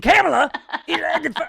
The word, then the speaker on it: Kamala: And Kamala, I'm like, what? It's Kamala. Let Uncle Al pronounce it the way he wants.